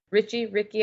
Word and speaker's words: Ricci: this guy named Joe Ricky. I'm not sure how to say it. RICCI. I'm not sure how you say that. It's some weird spelling, It's just Richie.